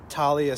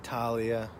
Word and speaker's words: Thalia: T-H-A-L-I-A. Talia, I think is how you pronounce it. Not Thalia. Thalia. I think it's Talia.